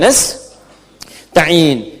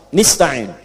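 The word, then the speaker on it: نستعين: Iyaka na'budu wa iyaka nastain'in. Ada yang baca pakai kasrah. Nista'in ya. Nistain ini bacaannya dari Bani Asad, Rabiah, dan Bani Tamim. Tapi kita baca harus menggunakan fathah kalau untuk kita ya.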